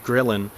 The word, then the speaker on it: ghrelin: hunger hormone ghrelin I think that's how you pronounce it ghrelin actually begins lowering this is a hormone that